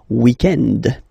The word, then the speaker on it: weekend: So if we're talking about the weekend, okay, but then pronounce it the French way, weekend.